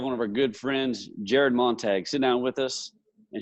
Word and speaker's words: Jared Montague: Jared Montague correct yes sir yes and I pronounced I said that correctly right you did